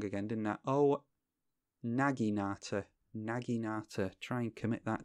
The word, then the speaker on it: naginata: and ice' but they're going after alguien atta pronounce that wrong again didn't that Oh naginata naginata try and commit that to memory okay